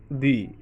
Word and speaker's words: the: শব্দটি আছে এজন্য আমরা এই টিএইচ ইকে বলবো দি ইউ লেফট দি আমব্রেলা কারণ ইউর ভাওয়েলের পূর্বে টিএস ই আসলে আমরা বলছি দি উচ্চারণ করব লুক দি অফিস অফিস এখানে আপনি